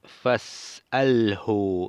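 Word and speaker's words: فاسأله: Dice fas'alhu, y está en imperativo del verbo sa'ala. Is'al, fas'alhu, y aquí no pronunciamos la i en la primera alef porque brincamos del a del fa a al sukun.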